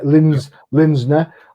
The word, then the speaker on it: Linsner: I can't pronounce his name. Is it Linsner? Yeah, Linsner on covers, and this is the guy that created Cry for Dawn.